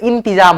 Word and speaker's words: इंतजाम: इंतजाम, इंतजाम, इम्तिजाम रहता, ये देखो इम्तिजाम, इम्तिजाम नहीं होता है, इंतजाम होता है, यानी न के उच्चारण आएगा इस बिंदी का।